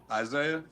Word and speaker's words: Isaiah: Isaiah. How do you spell it?